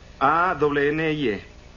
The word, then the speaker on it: Annie: A-N-N-I-E. Ahora la E es muda y aquí dice Annie.